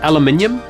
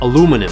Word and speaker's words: aluminium: Colorway is called Chalk White Aluminium. Although in America, you guys don't seem to be able to pronounce the last bit of that name correctly. Aluminum.